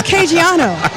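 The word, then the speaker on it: Caggiano: how to say it it's it's kiano you got it I'm Italian all right that was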